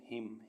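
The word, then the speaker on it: hymn: N silent रहता है एच वाई एम एन हिम हिम मीस भजन सी ओ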